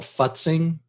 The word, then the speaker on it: futzing: when you're creating graphic that you have to pronounce very carefully it's called futzing but sing okay f-u-t-z yeah and what it